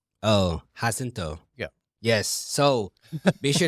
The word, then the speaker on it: Jacinto: The J is an H. Oh, Jacinto.